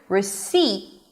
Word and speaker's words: receipt: And that's the T. So, some of you may say, "Hey, you didn't say a T here. You said receive. What is this word?" And I would say, "No, I did say a T. I just didn't release it."